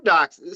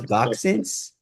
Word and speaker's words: dachshund: Well, we had they had two dachshun. So, the thing about my mom grew up with dachshunds. So, every pet we've ever had Well, I had you pronounce boxins.